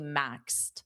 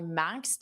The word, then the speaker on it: maxed: simple it would be maxed. I maxed out my credit card shopping. Very nicely done. And just notice that pronunciation maxed t with a very soft t. Maxed. Maxed.